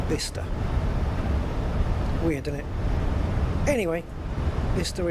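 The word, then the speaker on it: Bicester: So yeah, this is pronounced uh bister, not bice or bchester, it's bister.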